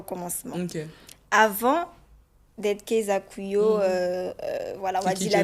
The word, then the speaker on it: Kuyo: J'espère que je prononce bien. C'est Kuyo? Oui, c'est Kuyo. Kuyo.